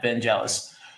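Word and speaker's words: Vangelis: butchering the pronunciation here I think it's pronounced van velis or or vanel vanel thank you yeah vanelis so I know that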